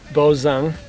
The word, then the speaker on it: Bozung: Name is Bozung. B as in boy, O-Z-U-N-G. And the best way to pronounce it is like Boz from Bozo the Clown and Ung like from Steve Young.